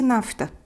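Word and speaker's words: naphtha: O betume é chamado em latim nafta, pronuncia-se nafta, escreve-se com PH.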